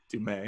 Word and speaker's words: Du Mez: Hi, this is Paul, and I have a special guest today, Kristin Kobes Du Mez, if I said that correctly. Close enough. Kristin Close enough. Kobes Du Mez. Du Mez, okay.